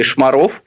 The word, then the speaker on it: Шмаров: Главным редактором там стал человек по фамилии Шмаров. К сожалению, ударение там ставится именно так, хотя, казалось бы, должно ставиться иначе.